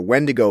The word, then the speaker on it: Wendigo: on, like the Indian Wendigo myth that comes up at the beginning of the movie. They spell it Wendigo, but it's the Wendigo, like the Wendigo being